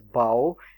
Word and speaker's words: bough: In BOUGH it is pronounced as bow, and in TH or OUGH it is pronounced as through.